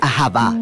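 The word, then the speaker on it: אהבה: Se pronuncia ahavá.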